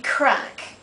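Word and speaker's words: craic: uh C would be crack now this is c r a i c and not crack as in crack in the ground um people say what's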